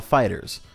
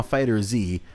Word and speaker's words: FighterZ: it's pronounced Dragon Ball fighters so just pronounce it like you would with an S you hear that so if you see someone saying dragon ma fighter Z fill them in on